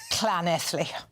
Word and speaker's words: Llanelli: I will correct your pronunciation off-air so as not to embarrass you. Llanelli.